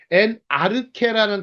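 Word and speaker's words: ἐν ἀρχῇ: 헬라어 수업인데 엔아르케라는 단어를 써요. 엔아르케. 엔아르케가 뭐예요? 태초에. 그 다음에 하나님은 어떻게 발음합니까?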